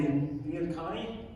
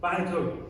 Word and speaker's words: Bianconi: But the first farm is called the Biancani. Is that right? Bianconi. Thank you.